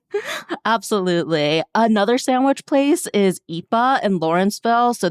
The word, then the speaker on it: Ippa: Another sandwich place is Ipa in Lawrenceville. So this is spelled IPPA, but it's pronounced Ipa because the owner's kid couldn't say pizza as a child, so they just kind of ran with it.